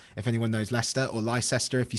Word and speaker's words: Leicester: hit right in the center it's right near leicester if anyone knows leicester or lyster if you say it wrong same as market